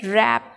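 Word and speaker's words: wrap: रैप है ना, W silent है।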